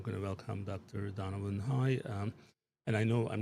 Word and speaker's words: Hui: So but what's the right way to say it? Uh like.